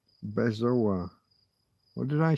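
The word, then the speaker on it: bezoar: Bezo. B E Z O A R. Bezo. What did I say? I said Boaz.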